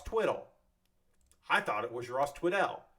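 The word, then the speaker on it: Tweddell: It's not Ross Twiddell. It's Ross Twiddle.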